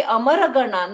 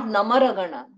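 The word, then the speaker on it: अमरगणान्: So it is to be Amaraganan, not Namaraganan. No, it is Amaraganan.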